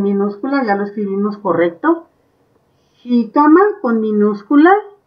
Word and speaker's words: jícama: Jícama, porque yo la siento en la I.